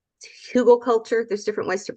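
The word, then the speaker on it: Hügelkultur: could even start by using a technique called hugelkultur. There's different ways to pronounce it.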